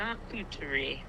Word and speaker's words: charcuterie: It's a charcuterie board, not a charcuterie board. Charcuterie. It's what? Charcuterie. Char, not char.